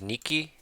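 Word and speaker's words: 日記: And I think this is niki. Like diary or journal. Yes. Niki with a little stop in the middle.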